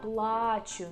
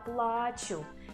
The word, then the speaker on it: плачу: Я плачу means I'm crying. Я плачу. And here we put stress on the last syllable. Я плачу means I'm pain. Я плачу. So be very careful with these stresses.